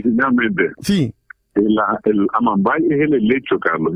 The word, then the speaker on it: Amambay: El acento siempre está al final, en vez de Amambay es Amambay.